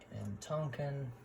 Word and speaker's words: Tonkin: So we took Cochin China, we took Burma, we took Tonkin, or Tonkin, however you want to pronounce it.